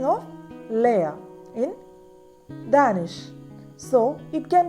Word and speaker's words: lærer: L combined AE sounds like lay, lay, lay, lay. Long E as in let.